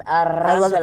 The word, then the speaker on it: Arangelo: It's spelled like orange jello, and that was the joke. Oh, fine. But it's pronounced Arangelo.